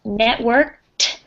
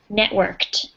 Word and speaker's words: networked: networked is um pronounced networked it has one of those final t sounds on the end networked a teacher what i